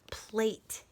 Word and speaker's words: plate: Do you see that E at the end of the word? When you see a silent E at the end of the word, we know that it makes the vowel, in this case it's an A, have the long vowel sound.